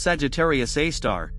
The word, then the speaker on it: Sagittarius A*: Sagittarius A asterisk, pronounced Sagittarius A star, is the supermassive black hole at the center of the Milky Way galaxy.